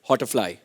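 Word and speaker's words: Hauterfly: Well, next is Jinal Bhatt from, the question is for Sanjay sir, and it's Hotterfly, if I'm pronouncing it correctly.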